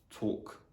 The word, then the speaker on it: talk: it's not yeah so the letter l is normally not pronounced when it comes after the letters a o or u so for example in the words talk stalk so the letter n is